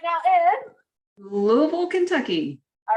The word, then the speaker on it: Louisville: Louisville, Kentucky. All right, everybody, you heard the official pronunciation of Louisville.